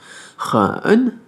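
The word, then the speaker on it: 人: Donc wo, ren, le E qui va se prononcer un peu comme un E, le N comme un N sans faire ne, c'est vraiment un N qui s'arrête à la moitié, quoi.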